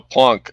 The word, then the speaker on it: Planck: has a plank uh a plonk I think it's pronounced Planck uh uh uh unit